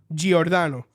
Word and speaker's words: Giordano: did I say it I said Dr G orano Jan yeah cuz I'm assuming it's Italian you